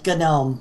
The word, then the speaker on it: GNOME: I've always heard it as GNOME. GNOME. All right. So it's a little weird, but we'll call it GNOME.